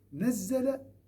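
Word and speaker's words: نزّل: Nazzala, regardez même au niveau de la prononciation. Anzala, une seule fois. Nazzala. Il y a cette ralenti.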